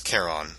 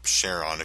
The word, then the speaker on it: Charon: and as you can see it's Kon or cheron if you prefer to pronounce it like that I like Kon but